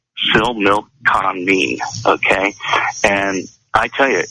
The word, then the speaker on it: Similkameen: It was a 2013 consensus, and it was from Similkameen, and that is Similkameen. And it's pronounced Similkameen, okay?